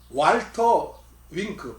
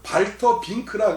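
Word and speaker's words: Walter Wink: 성서 연구를 많이 했으니까 성서 연구 방법론을 이 왈터 윙크, 발터 빙크라 그러기도 해요. 이제 그 독일어식 발음은.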